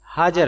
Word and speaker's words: ہاجر: کی حقیقی والدہ کا صحیح نام ہاجر ہے صلوات اللہ علیہا، جس کا تلفظ اہل عرب آجر سے بھی کرتے ہیں، کیونکہ لغت عرب میں ہا کو حمزہ سے بدل کر بھی پڑھا جاتا ہے۔ ہاجر اصل میں عبرانی